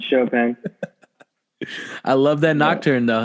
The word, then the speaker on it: Chopin: Chopping for you. Chopping up dead bodies. For you fucking you deadbeats out there. Right. How do you spell it? Chopping, bro. Chopping. It's chopping. Pronounce Chopin.